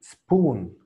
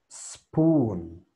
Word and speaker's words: spoon: Pronúnciame spoon. Spoon. Spoon. No, la primera regla que te dije es no me vayas a pronunciar E. Es directamente a la S.